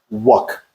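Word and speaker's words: wok: And uh dear Chef Glennville told us it's pronounced Wuk, Wuk K, even though it is spelled walk.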